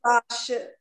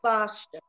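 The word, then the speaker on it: ווארשע: Well, I was having a I don't even know how to say it in Yiddish, and up the Varsha Warsaw is Varsha.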